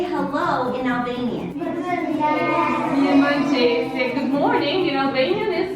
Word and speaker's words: Mirëmëngjes: Mirëmëngjese.